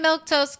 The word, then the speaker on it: Milquetoast: I'm Milktoast. That's how you say my name.